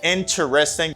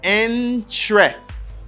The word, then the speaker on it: interesting: But unfortunately, you don't say interesting because there's a syllable that isn't pronounced. You don't say interesting, you just take off syllable ter, okay? Or you just take off e. You say entre.